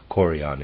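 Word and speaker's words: chorion: the other female organs in closing the embryo coron is spelled c h o r i o n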